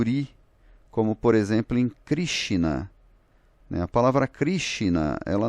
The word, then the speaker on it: Krishna: como por exemplo em Krishna, né? A palavra Krishna, ela não tem esse I se você fosse usar a norma de transliteração. Mas algumas palavras em sânscrito, o ele é pronunciado ri, e aí o Monier